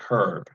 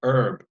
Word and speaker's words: herb: AGB our people say herb things that you put in your food if you come West from Texas California we always say herb we do not pronounce the H but if I hear